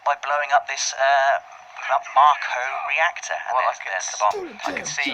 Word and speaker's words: Mako: This is a Mako reactor, Dave, officially pronounced Marco. Right, I've always pronounced it Mako. Officially it is Marco though, and you can